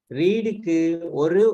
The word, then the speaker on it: read: சரி இல்ல, ரீடுக்கு ஒரே ஸ்பெல்லிங் தான். ரீடுக்கு ஒரே ஸ்பெல்லிங் தான், ஆனா ப்ரொனவுன்சியேஷன் மட்டும் ரெட் என்று வரும்.